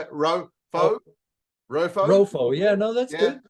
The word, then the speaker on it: Rofo: How do I pronounce it, John? You could probably say it. Rofo.